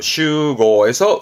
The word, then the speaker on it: 集合: 발음은 슈고에서 음으로는 슈 갑니다. 슈고.